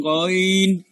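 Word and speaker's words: غ: এই আইন এবং হার উচ্চারণটা আমাদের একটু কষ্ট করে করতে হবে, এইগুলো একটু কঠিন, বাকি অক্ষরগুলোর উচ্চারণ অত কঠিন না। তারপর আসেন গইন, গইন।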